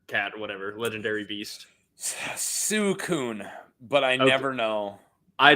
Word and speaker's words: Suicune: How do you pronounce the water legendary dog or cat or whatever, legendary beast? Suicune, but I never know.